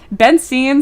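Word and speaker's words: Bentzien: I got really good at it because my last name is Benine. And I don't know where the T came from because we're from Benson, Germany. I think it's an immigration thing. They just like they were like what? They put a T in there.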